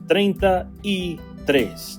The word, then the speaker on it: treinta y tres: It too has three Spanish words to pronounce the number 33, and it's treinta y tres.